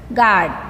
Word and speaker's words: guard: Guard. Guard. Guard word. U is a silent letter.